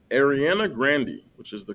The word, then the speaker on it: Ariana Grande: Is this A, Nick Jonas, B, Ariana Grande, which is the correct way to pronounce her name, C, Anne Hathaway, or D, Cuba Gooding Jr.?